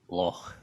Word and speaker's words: loch: Well, you've got the pronunciation right, because Leslie said it's as pronounced as in och, as in loch.